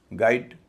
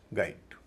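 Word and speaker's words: guide: Mosquito या mosquito गाइड जी यू आई डी ई इसमें भी यू साइलेंट है। जी आई डी ई का जो उच्चारण होता वही जी यू आई डी ई का है। गाइड नमस्कार।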